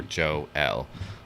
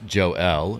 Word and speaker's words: Joel: or, or Joe L. So it's pronounced Joe L, and so people don't say Joel.